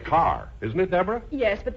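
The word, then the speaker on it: Kerr: isn't it yes but in england it's pronounced car oh just like here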